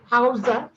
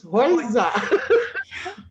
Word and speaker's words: Heuser: It's not Heuser, it's Heuser.